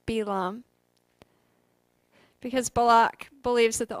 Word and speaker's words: Balaam: the help of a sorcerer a fellow named balaam in hebrew his name is pronounced belam because balak believes that the only way he